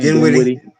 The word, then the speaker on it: Dinwiddie: How do you pronounce his name? Dinwiddie.